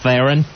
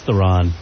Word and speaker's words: Theron: Isn't it just Theron? No, it's Theron. Theron.